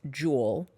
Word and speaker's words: Jule: Yeah, it's Jewel, as in like the e-cigarette. Okay. Yeah. That's it. I would have been like a gemstone. Oh, from having listened to it, I would have assumed that it was spelled like the gemstone. Yes, but it's spelled not. J-U-L-E.